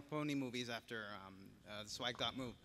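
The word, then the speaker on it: .mov: I pronounce it dot mov. Dot mov. But it's a dumb made-up word, so you can pronounce it any way you want.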